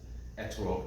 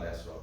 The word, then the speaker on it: etrog: Although we are Ashkenazi Jews, we aren't pronouncing things with modern Israeli pronunciations, and that's why it's etrog, not esrog for us.